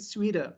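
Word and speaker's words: sweater: okay in American English but in American English use accent sweeter sweeter Sweden because T between two vowels so we pronounce d like da but it not appear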